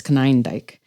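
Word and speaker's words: Konyndyk: I realized that actually it's not kundik it's Canik and I've been pronouncing it wrong all these years he had this term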